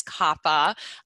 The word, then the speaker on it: COPPA: before sopa came along so for instance um kappa which i actually prefer to call copa because i just like to think that i'm in copacabana but i think it is kappa my husband works for the ftc and he